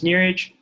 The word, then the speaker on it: Neeraj: My name is Neeraj. Think of your knee and think of a ridge. That's how you say my name.